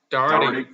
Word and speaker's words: Doherty: Doherty.